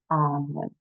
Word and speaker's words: Annwyn: Talk about hidden in plain sight, but the pronunciation is Arnwin.